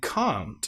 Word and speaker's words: can't: And can't. If this is pronounced incorrectly, it sounds very much like can. If you say can, can't, as some will when they're speaking English.